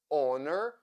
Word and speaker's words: honor: ancient words for instance in words like our honor or honest the letter H is not pronounced in many words where